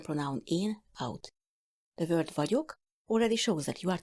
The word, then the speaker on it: vagyok: You say a D sound with the middle of your tongue, then you say a Y sound.